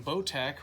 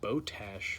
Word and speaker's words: Botach: 4 plate that is from boat AK or as the company themself pronounces it boat ash what's that just sounds